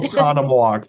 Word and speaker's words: Oconomowoc: Okay, so how do you pronounce it? Oconomowoc. It is, yeah, Okay. Oconomowoc.